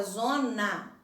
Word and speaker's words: zona: mais fechado branco já na palavra zona a gente só alecrim ah ah é aberto bom então vamos marcar